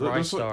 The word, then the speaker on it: Ristar: It's Rise Star.